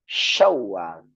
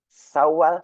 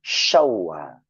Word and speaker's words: Syawal: Tata cara pengucapannya, tengah-tengah lidah nempelkan ke langit-langit atas. Maka keluar angin yang besar seperti kita mengusir ayam. Sya, shi, shu, Syawal.